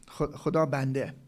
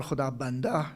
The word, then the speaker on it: Khuda Banda: he took was Muhammad Khuda Banda, Khuda Bande. Khuda Bande or Khuda Banda, more classical pronunciation, means Abdullah, the servant of God.